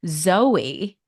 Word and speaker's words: Zoe: nutritional research at the science and nutrition company Zoey I hope I pronounced it right it is Zoe I did